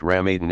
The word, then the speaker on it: Ramadan: daily ritual prayer fasting during Ramadan pronounced Ram Eden and pilgrimage to Mecca